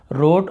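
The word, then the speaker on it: wrote: का second form है रोट, और रिटर्न भी होता है, यानी सब डब्ल्यू से ही स्टार्ट होता है, तो रोट, राइट, रिटर्न में हमें डब्ल्यू को नहीं पढ़ना है।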